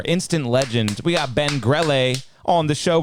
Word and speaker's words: Grelle: Yeah, but they always pronounce my name wrong. It's Grelle, and they usually say Grelle or Grelle. Yeah, so it's Grelle.